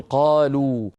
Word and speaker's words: قالوا: العلماء الف الت فريق ولا تنطق هذه الواو تكتب ولا تنطق لا ينطقها احد ما في احد يقول قال و مثلا كل الناس تقول قالوا مع انهم يكتبون الفا بعد